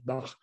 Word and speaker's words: Bach: I go back to another aspect of this case of Bach that I sometimes pronounce Bach at the French way, or sometimes Bach if I try to look more musical.